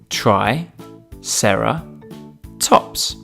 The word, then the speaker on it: triceratops: today triceratops try sarah tops can you say it with me try sarah tops let's learn all about triceratops triceratops was found in